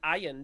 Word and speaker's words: iron: Iron has been the correct pronunciation for like the last century or so.